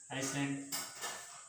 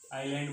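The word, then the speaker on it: island: ठीक है, कभी कभी आप नाम सुनते होंगे ड्यूब, ये साइलेंट रहता है, आइसलैंड। ठीक है, आइलैंड बोलते हैं ना।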